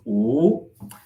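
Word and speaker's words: 五: 5 is a very lucky slash very unlucky number for me because in Chinese, the number 5 is pronounced "wu."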